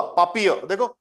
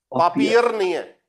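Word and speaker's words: Papier: देखो देखो, आर और ई आर दोनों प्रोनाउंस नहीं होंगे, एक आर की हल्का होगा, पापिय, देखो पापियर नहीं है, पापिय, पापियर। दस पापियर। पापिय, देख रहे हो आर प्रोनाउंस नहीं हो रहा, लास्ट में आता है, तो पापिय।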